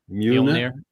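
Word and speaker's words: Mjölnir: How do you pronounce it again? Mjolnir.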